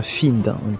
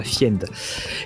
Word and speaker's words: Fiend: petit point de traduction F n se prononce bien find c'est pas fiend et alors il avait